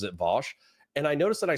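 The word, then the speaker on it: Vaush: I've noticed that because vouch was used kind of as like a derogatory way to pronounce his name because everybody who likes him pronounces it Vosch.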